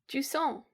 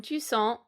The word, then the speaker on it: Jusant: Yeah, it's basically a French word. I think it means like the receding of the tides, essentially. Yes. So in Jusant, you play a little